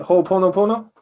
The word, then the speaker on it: Ho'oponopono: But one thing that I am struggling to control is the pronunciation. Hoponopono. Ho. Hoponopono. Am I saying that right? Hoponopono?